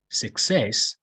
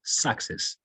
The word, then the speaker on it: success: where this word success it's not success talking about stress because we learned most of words are i think first levels the stress is on the first syllable you know success parrot but it's not a case for this word we don't say success is success thank you so much uh